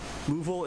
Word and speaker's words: LUVOL: Louisville is spelled L-U-V-O-L. I'm not Louisville, Kentucky, guys.